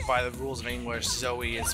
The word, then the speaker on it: Zoe: So now we have a clear path to get to Zoe.